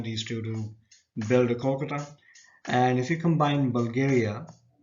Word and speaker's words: Kolkata: Now, Kolkata was earlier called Calcutta, but Calcutta was actually a mispronunciation of Kolkata, which is why they went ahead and changed the spelling so it can actually be pronounced properly.